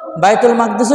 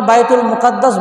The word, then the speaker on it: বাইতুল মাকদিস: আমরা অনেকে বাইতুল মুকাদ্দাস বলি। ওটাও ঠিক আছে। সঠিক উচ্চারণ হল বাইতুল মাকদিস। শব্দটা আরবি শব্দ। আরবিতে বাইতুল মাকদিস আছে। বাইতুল মুকাদ্দাস বললে ভুল হবে না। কিন্তু এটা সঠিক বেশি উত্তম।